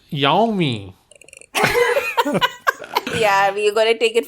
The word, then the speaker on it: Yami: Yummy Gautam. Is it Yummy? I don't know how to say her name. Yummy, Yummy. Yami.